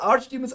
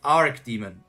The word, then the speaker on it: archdemon: It's pronounced Archdemon. I mean, it's Arch or Arc. It can be both, I think.